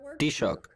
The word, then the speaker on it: Taoiseach: Enda Kenny es el actual Taoiseach, o jefe de gobierno, o ¿cómo se pronuncia en irlandés? Taoiseach.